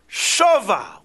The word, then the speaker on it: Shava: Kain Kara Lamakamahu Be'er Shava with a kametz. They're spelled the same, Shin Vei Zayin, but they're pronounced differently. It's a different vowel. This is Shava and this is Sheva.